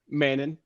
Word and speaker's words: Mannon: pronounce your last name Manon we're just time just like Canon but with a M but I I'll answer